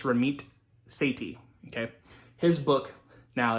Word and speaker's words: Ramit Sethi: all right ramith is spelled r-a-m-i-t and seiti is spelled s-e-a-s-e-t-h okay so it looks like ramit sethi but it's not it's ramit seti okay his book now it's a total scammy